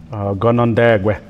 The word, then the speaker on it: Canandaigua: have a chosen town or the chosen town gonondague and that's how we pronounce it we have a word for treaty